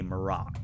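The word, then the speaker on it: Mar'ock: how is his name spelt uh his name is spelt m r or m a r apostrophe o c k maroc okay okay so wrong i did m-i-r-a-k oh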